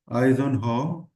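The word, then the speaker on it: Eisenhower: one is Ison H Matrix now this is pronounced as Ison Hall Matrix what is this Matrix is all about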